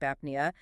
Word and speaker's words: apnea: And notice what happens to the rhythm of the word there. The cluster is medial now. The syllable boundary splits right down the center of those two consonants.